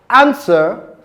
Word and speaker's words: answer: Other words such as answer, wrist, right, also have a silent w sound.